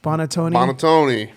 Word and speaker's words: Buonantony: Buonantony.